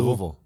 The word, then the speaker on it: Louisville: You came to Tulsa from Louisville. Yes. Did I say it right? Absolutely. Louisville.